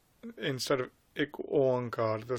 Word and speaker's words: Ik Oankar: It is essential that you say the Ik Oankar. There's others that say Ekamkar. It isn't Ekamkar neither. No, the pronunciation has to be said correctly.